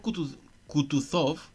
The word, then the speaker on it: Kutuzov: El general Kutuzov repuso pronunciando la última sílaba, sov, como un francés, quitándose el guante de una blanquísima y minúscula mano y frotándose con él los ojos.